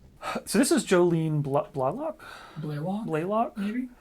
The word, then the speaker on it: Blaylock: Blaylock, maybe? It's actually Jolene Blaylock. Okay, I said the Canadian pronunciation Blalock, but it's Blaylock.